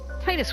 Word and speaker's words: Tidus: And of course, Tidus was there.